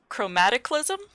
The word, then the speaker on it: chromataclysm: this name repeatedly uh chromaticalism that was absolutely correct that's it that's the name grammaticalism you said it right the first time because i practiced it